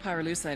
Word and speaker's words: pyrolucite: You know what pyrolucite is, right? Yeah, neither did I. Pyrolucite, key syllable pyro, by the way, is the shit they mine in Villa Verde province to turn coca leaves into high-quality cocaine.